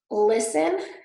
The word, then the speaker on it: listen: do pronounce it often listen has a t wrestle wrestler also a